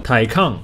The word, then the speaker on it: Taycan: 查一下这个怎么念，Taken 吧，Taken。对，台抗哦，他念台抗吗？Porsche Taycan 4S，哎，真的念台抗。